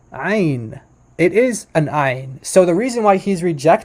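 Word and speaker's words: ע: i in modern Hebrew which is pronounced like Ein Ein it's not it's there's not it's no guttural it's not guttural at all um so in in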